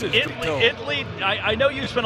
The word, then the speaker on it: Italy: There is no A in its pronunciation. Italy, Texas. Italy.